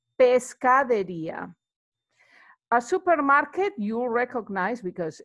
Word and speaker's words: pescadería: You see the, like before with carnicería, where we have the accent is where you actually place the accent also when you're pronouncing it. So it's pescadería.